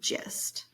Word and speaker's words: gist: So I want to hear that this is the J, this is that short I sound. And I know that when a G is next to an E, I, or Y, sometimes it can be spelled with a G. So the next sound is I, S, and T. The word is gist.